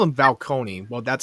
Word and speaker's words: Falcone: Falcone.